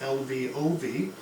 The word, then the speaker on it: Lvov: government a man named love y'all evolved I don't know how to pronounce it it's Lvov is taken over by this